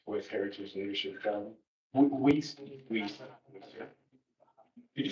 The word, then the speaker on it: Wiest: Weist. Could you spell that last name, please?